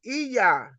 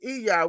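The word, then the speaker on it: Iya: Nana or gon my my title would be eah and it's it's pronounced e e y a h but it's it's spelled I Y A it's eah which means mother or grandmother in the urable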